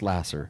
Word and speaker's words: Laser: more time charity charity Lasser so that's charity spelled like uh the pure love of Jesus pure love Jesus Lasser l a s e r okay spelled like laser pronounced Lasser okay um look truly